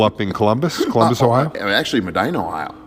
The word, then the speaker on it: Medina: Actually, Medina, Ohio. Medina, Ohio. Yeah. Okay. Yeah, we might as well pronounce it wrong, Medina, Ohio.